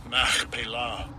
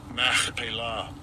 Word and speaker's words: Machpelah: And I'll give you a pronunciation of it. It is H4375. Strong's H 4375. Machpelah. Machpelah.